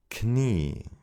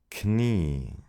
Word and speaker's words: Knie: In German, however, we do pronounce those letters at the beginning of words. Psychologie. Psychologie. Knie, Knie, Gnade, Gnade.